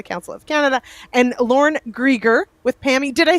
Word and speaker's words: Grieger: But joining me now, we'll have Shawn Senko with the Canola Council of Canada and Lorne Grieger with PAMI.